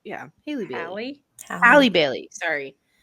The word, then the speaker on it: Halle Bailey: Because part of me was like, yeah, go Haley Bailey. Haley Bailey, right? Yeah, Haley Bailey. Hallie? Halle Bailey. Sorry, it's spelled.